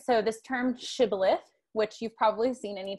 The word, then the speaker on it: shibboleth: they're identified by their inability to pronounce shibboleth they say it like sybilith right um and so they know that they're not a member of gilead right because they don't say it the right way so this is a